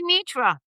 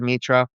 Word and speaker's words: Mitra: I keep say Rahab because I know how to pronounce Rahab, and I don't know how to. Or just say Mitra.